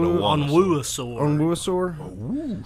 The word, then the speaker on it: Onwuasor: Patrick Owanisor. Owanisor. It's like a dinosaur, but Onwuasor.